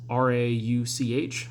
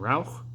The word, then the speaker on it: Rauch: It's Rauch, so I would have imagined Rauch. But it sounds like the end of it is silent, so it's just Rau.